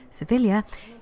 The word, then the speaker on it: Sevilla: Angela seeing capital surveil or as the Spanish pronounce it they should know Sevilla is famous for many